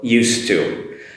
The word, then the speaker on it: used to: but it's changed so used to the spelling is used and two the pronunciation is a very short d sound very very short and leads into the two so it comes across